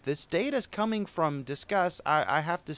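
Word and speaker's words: Disqus: It's Discuss. I think they meant to say it like Discuss.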